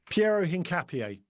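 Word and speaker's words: Piero Hincapié: How do you pronounce his name? Pierro Hinapier.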